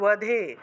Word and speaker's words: বধে: চামুণ্ড চণ্ডমুণ্ড বিনাশিনী, এখানে বগুলা অন্তস্থ ব কিন্তু ওয়া হিসেবে উচ্চারণ করবেন, বগুলোকে ওয়া হিসেবে উচ্চারণ করবেন। তাহলে ওধে ওধে দেবী চণ্ডমুণ্ড বিনাশিনী রূপম দেহি জয়ম দেহি যশো দেহি দ্বিষো জহি।